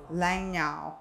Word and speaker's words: Langnau: Lanzhou.